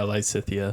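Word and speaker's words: Lysithea: Did I mispronounce that? It's fine. Lysithia? Close enough. How is it said? Is it Lysithia? Yeah, Lysithia.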